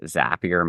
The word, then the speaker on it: Zapier: clarify how to pronounce zapia properly yes well thanks for having me on I'll start by saying it's zap Leed to often say zappier makes you happier and for the more